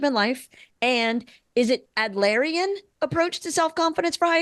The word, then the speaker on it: Adlerian: The High Achievers Guide to Soft Skill Confidence in Leadership and Life, and is it Adlerian approach to self-confidence for high achievers, Tricia? Is that how I pronounce that?